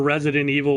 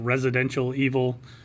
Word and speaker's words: Resident Evil: everybody mispronounces everything god I remember Resident Evil was always like residential evil I remember parasite eve